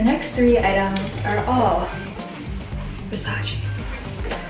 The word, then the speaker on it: Versace: While we're on the Versace train, the next three items are all Versace. I say Versace, but I know it's Versace, so I'm trying to pronounce things correctly, just like Burberry and not Burberry.